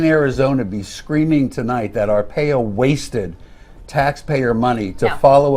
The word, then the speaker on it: Arpaio: Joe Arpaio, and that's how it's pronounced, by the way. Make sure everybody knows that. Joe Arpaio being Joe Arpaio.